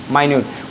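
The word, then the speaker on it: minute: ये बातें ध्यान रखना है कि इसका प्रोनाउंसिएशन 2 होगा, या तो इसको मिनट कहोगे या फिर क्या कहोगे, माइन्यूट।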